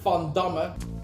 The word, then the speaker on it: Van Damme: Fondama. What? With a F. The V is pronounced as an F cuz Vanam fondama is Dutch.